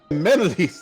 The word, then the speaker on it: Kameniles: Kameniles, thank you, someone. It's okay. It's kind of like a Greek pronunciation at the end.